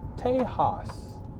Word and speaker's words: Tejas: a Sanskrit standpoint but it's spelled T e JK s now we know that's a Spanish word that we pronounce Tejas okay we back we're gonna